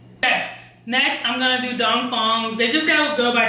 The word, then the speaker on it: Dong Fong: Okay, next I'm gonna do Dong Fongs. They just gotta go by DP Bakeshop because a lot of people can't pronounce their name, but it's Dong Fong.